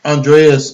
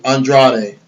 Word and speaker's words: Andrade: How do you pronounce his name? Is it Andre? Andreas, yeah, Andrade.